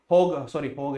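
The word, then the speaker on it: Hague: के अंदर treaty of होज। देखो बेटा, कंपनी कब डाली? 1605 में। अब देखो भाई साहब, हमारे पास 1663 के अंदर भाई साहब ट्रीटी ऑफ होज हुई। ओके, होग है इसका प्रोनाउंसिएशन।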